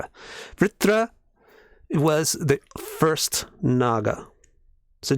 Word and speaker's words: Vṛtra: Hard, difficult word for people to pronounce. You just got to curve your tongue up when you say vr, and then say tra. Vṛtra. Vṛtra was the first Naga.